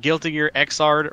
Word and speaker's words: Guilty Gear Xrd: Gear game huh XRD hmm yes that is how you say it it's called guilty gear xrd Revelator hilarious title yeah